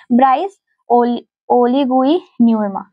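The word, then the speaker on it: Brice Oligui Nguema: तो गैबोन इसका राष्ट्रपति जो है वो ब्राइस ओ ओलगुई न्यूमा ये जी साइलेंट है तो ब्राइस ओ ओलगुई न्यूमा जो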